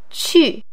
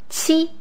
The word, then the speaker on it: 去: It is in the fourth tone. 去. Q in pinyin is pronounced 七. This is a combination of a T and a CH sound. 七. This is similar to the pronunciation of cheek in English.